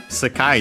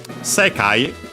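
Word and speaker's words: 世界: Uh Sekai which we have already seen even in this series for sure. Uh means world. The Chinese compound accent on the first mora this one.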